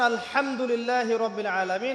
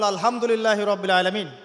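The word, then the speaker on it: الحمد لله رب العالمين: বলেন একজন কন্ঠনালীর মাঝখান থেকে। এখান থেকে আপনি উচ্চারণ করছেন আলহামদুলিল্লাহি রাব্বিল আলামিন অর্থ দাঁড়াচ্ছে সমস্ত প্রশংসা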